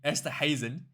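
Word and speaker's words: Esterhuizen: Andre Esther Hazen E apparently it's not a hard G. Esther Hazen.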